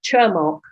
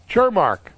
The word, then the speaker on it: Cermak: So please, how do we pronounce your name? Thanks, Alan. It's Cermak. Cermak, okay. Yes, got it. Cermak.